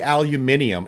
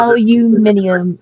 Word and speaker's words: aluminium: and then they'll say aluminium and I'm like you're adding three letters and two extra syllables and they'll be the